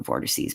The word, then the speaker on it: vortices: I guess they're macro vortices, but they're vortices or vortexes. Vortices is how you say vortex in plural.